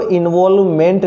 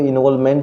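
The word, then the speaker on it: involvement: ये देखो, इन्वॉल्वमेंट नहीं है मेरे प्यारे, बहुत सारे जो आपको टीचर्स वगैरह है वो इसको इन्वॉल्वमेंट पढ़ेंगे, गलत प्रोनाउंसिएशन है। सही प्रोनाउंसिएशन इन्वॉल्वमेंट है।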